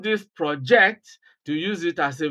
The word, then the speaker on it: project: the part of speech if it is a noun Place stress on the first syllable if it is a